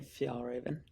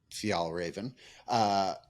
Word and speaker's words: Fjällräven: Fjällräven. How do you actually pronounce it? Yeah, Fjällräven. Fjällräven as VP, and a fairly generic VP, which